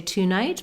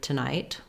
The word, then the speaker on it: tonight: So I don't say tonight, but rather tonight. Tomorrow, same thing. Tomorrow. Together, words that have TO in the first syllable and are unstressed on that first syllable are going to be that quick schwa sound.